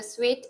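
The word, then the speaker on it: suite: 나오는데요 저도 타보고 싶더라고요 s s 발음이 달달한 스위트라는 단어와 똑같거든요 따라해 보실까요 S 스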